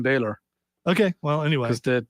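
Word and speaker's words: Bálor: who you got Finn Balor by the way from Ireland yeah I know but if you're going to if you're gonna say it properly It's Finn Baylor okay well anyway because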